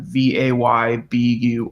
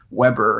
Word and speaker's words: Weber: thumbnail he has a German name and the pronunciation like I said already is Weber like vay bu are are even though it looks like Weber it's how we would pronounce it um no